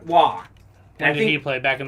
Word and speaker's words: Roy: i'm going with patrick i think it's wah how do you say it not roy patrick wah and he played back